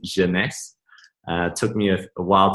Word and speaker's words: Jeunesse: So Jeunesse is actually French for youth. The word actually means youth in French, so pronounce it Jeunesse.